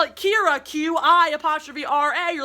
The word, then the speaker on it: Qi'ra: qi'ra, spelled Qi'ra, pronounced Qi'ra.